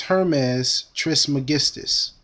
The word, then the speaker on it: Hermes Trismegistus: He was known as Hermes Trismegistus. And I'll spell that for you.